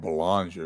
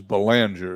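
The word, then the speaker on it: Ballinger: Johnson Banger excuse me I don't know why I call him balanger because it is balanger is the proper pronunciation Bender pitches the baker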